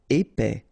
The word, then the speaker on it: épais: Épais. Final S not pronounced. A-E together, épais.